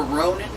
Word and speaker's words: Ronin: Yeah, it sounds like the word roaming. You know, like when you got your cell phone and you're roaming for a signal. So it's like you're a Ronin.